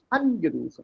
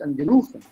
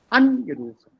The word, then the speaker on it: angerufen: Ja, gestern Abend habe ich meinen Freund angerufen, nicht angerufen, angerufen.